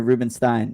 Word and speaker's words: Rubenstein: I think so honestly I'm not even sure if it's Ruben Stein or Ruben Stein I it's Ruben Stein I know that I got confirmation on that it is Ruben stein look that up before